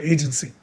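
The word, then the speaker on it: AGNTCY: an open source project called Agency. That's spelled a g n t c y.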